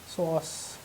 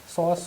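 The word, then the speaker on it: psoas: सो S sign सॉस सॉस सॉस जो बोलना है बोले इसको। अब पी साइलेंट होता है, ठीक है।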